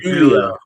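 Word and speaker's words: Giulia: Je is it Gouia or Julia? It's Julia. It's Julia. You gota stop saying Gouia. It's Julia.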